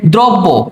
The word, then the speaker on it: দ্রব্য: তাহলে এইটার উচ্চারণ কি হবে? দ্রব্য। তাহলে এইযে দয় ওকার ব। দ্রব এখানে একটা হস হবে। কারণ এখানে সরটা নাই। আর পরে কি আছে? ব। দ্রব ব। এইভাবে মূলত উচ্চারণটা তোমাদের করতে হবে।